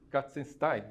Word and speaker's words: Katzenstein: No catálogo é publicado o texto de Inês Katzenstein, é assim que se pronuncia o nome dela, crítica e curadora do